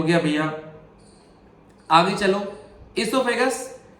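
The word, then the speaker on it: oesophagus: आगे चलो, इसोफेगस। इसोफेगस जो होता है उसको प्रोनाउंसिएशन जो होती है ई से होती है, पर लिखते कैसे हैं देख लो आप, ओ इसोफेगस है।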